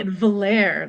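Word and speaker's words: Valere: guy uh we have I'm assuming she pronounces her name Valerie or Val Val oray or something I say valir like it's it's French nice I like that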